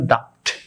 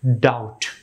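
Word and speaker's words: doubt: নিয়ম অনুসারে তো ভিউয়ার্স আমি ভিডিওর প্রথম দিকে এখানে উচ্চারণ করেছিলাম ডাফট ডাফট ডাফট উচ্চারণ করেছিলাম তো ভিউয়ার্স আসলে এই ওয়ার্ডের সঠিক উচ্চারণ হবে এই নিয়ম অনুসারে ডাউট ডাউট এর পরবর্তী এটির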